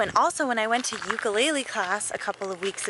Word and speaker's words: ukulele: can i talk about the ukulele which is pronounced ukulele for those of us